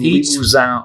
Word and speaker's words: Limousin: It's aged Limousin oak. Oh, yeah. A+ in the pronunciation there.